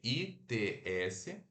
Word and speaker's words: its: disso é preto Então se escreve its mas pronuncia o i fechado então e perfeito Lembrando que esse I ele é fechado e é mais curto tá bom beleza gente então